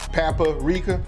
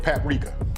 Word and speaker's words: paprika: me in the comments i like the way he says uh papa rika i know it's paprika i got it so let's